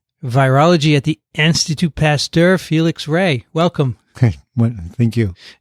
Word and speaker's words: Félix: feli Felix it's a my name is Spanish so it's Felix Felix with a little accent but if it were French it would be right it's Felix Felix they pronounce the X Felix the x is pronounced okay welcome I'm sure